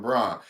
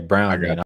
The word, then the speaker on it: Braun: He's too close to calling him Braun and that ain't right. Oh, okay. Okay. Brown. I said Brown. Like that. But he said who? I said Brown.